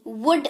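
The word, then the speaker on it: would: ओ यू ल दी ल again इसमें साइलेंट है मतलब होता है ग जी जी वुड उच्चारण होता है इसका मतलब होता है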